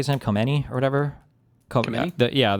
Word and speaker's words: Khamenei: Um Assad uh How do you say Sayed Khamenei or whatever?